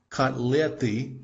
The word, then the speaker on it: котлеты: This is kotleti, which is cutlets.